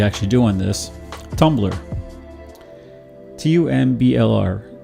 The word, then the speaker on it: Tumblr: T-U-M-B-L-R. It's pronounced Tumblr. No E.